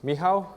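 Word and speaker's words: Michał: okay so my name's me.how or I come from Poland and that's how that's our heritage of the name Michael and so you can call me Michael me how it's how you spell it I've been a data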